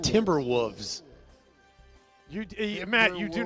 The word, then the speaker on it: Timberwolves: did you you said Timberwolves you Matt you do not pronounce the L timber wolves there is an L there timber wolves you're still